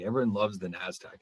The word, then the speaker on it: Nasdaq: that's okay it's just it's pronounced nasdaq it's an acronym yeah i don't even